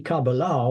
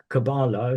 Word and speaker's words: Kabbalah: And in the Kabbalah, or Kabbalah, if some people pronounce it that way, there is the emanation unfolding from in the unmanifest world.